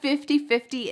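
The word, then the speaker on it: fifty-fifty: Do you remember that T changing to a D? 50 50 Do you hear that D at the end?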